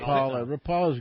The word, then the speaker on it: Rapala: Yeah, no, the Rapala is correct, John. It is. No, you're saying it right. Yes. I admittedly. Yeah, I'm. But everybody, Rapala's good too.